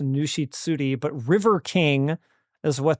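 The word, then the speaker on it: ぬし釣り: Tsuri. Okay, it doesn't become Zuri. I guess it's just Nushitsuri, but River King is what they're usually translated as.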